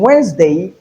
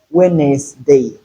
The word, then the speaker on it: Wednesday: In Wednesday we have only two syllables. So it is not Wednesday, it is Wednesday. Wednesday the Z sound instead of S.